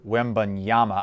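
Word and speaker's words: Wembanyama: man from france victor wembonyama i believe uh that is that is how it's pronounced i'm not 100 we'll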